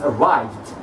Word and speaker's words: arrived: So arrive. Okay, the last sound is v. So it's not peu, que, feu, de, ch, and it's not te or de. So here we pronounce it as de sound. So we say arrived.